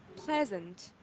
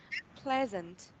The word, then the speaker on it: pleasant: So for the first word, we have pleasant, pleasant, pleasant. Okay, and the syllable, the stress is on the first syllable, pleasant.